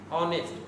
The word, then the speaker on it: honest: যেমন অনার্স, hour, তারপরে honourable, তারপরে অনেস্ট। এই সমস্ত শব্দ দেখো উচ্চারণ এই এর মতো না হয়ে ভয়েলের মতো অনেস্ট।